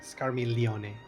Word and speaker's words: Scarmiglione: Just ignore the G. Scarmiglione. Scarmiglione is dead.